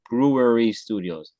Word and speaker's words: Brewery Studios: Brewery Studios. That's how you pronounce it. Brewery Studios.